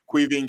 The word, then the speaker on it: Caoimhin: after that game now jurgen klopp called cu quivian kelleher need to be learned to pronounce his name right queen killer the best